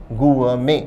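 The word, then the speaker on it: gourmet: अच्छे भोजन का पार्थी या विशेषज्ञ कहलाता है गु में विद्यार्थी ध्यान दें शब्द का उच्चारण है गु में आखिरी टी साइलेंट रहता है जैसे बुके में साइलेंट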